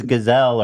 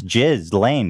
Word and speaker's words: Ghislaine: Because at first I was like, oh, it's Gazelle or something, like French name. I've heard it pronounced Ghislaine. It's Ghislaine, yeah.